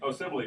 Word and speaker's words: Osemele: You mentioned in just passing Kelechi Olesemi, I believe that's how you pronounce his name, or Oselemi, one of the offense. Osemele, got an unusual name, an offensive line.